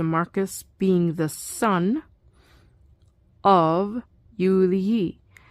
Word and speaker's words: Julii: Filius est, this is referring to Marcus being the son of Julii. Now, Julii has a long I because Julii is now in the genitive.